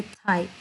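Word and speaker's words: thigh: Portion है इसको हम, जैसे हाई वर्ड होता है इसी तरह टी को लगा के थाई, इसको हम थाई में करेंगे प्रोनाउंस इस वर्ड को।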